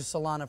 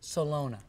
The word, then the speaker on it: Salona: before we go on I've called you salana for the whole show it's spelled that way but it's actually Salona correct please forgive me